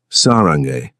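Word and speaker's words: 사랑해: He reciprocated with Korean lessons, teaching her proper pronunciation of common phrases. "Sarange," he said one evening, demonstrating.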